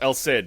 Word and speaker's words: El Cid: That's how they pronounced it in the movie. There's not even an attempt to be like Alai or like it's just El Sid.